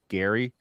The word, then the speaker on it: Gerry: I think I keep on calling him Jerry, but it's actually Gary. He's in our Bets Talking chat. It's spelled Jerry, but it's pronounced Gary.